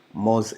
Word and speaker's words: Moz: way this is definition by according to moz moz is spelled m o z mos is one of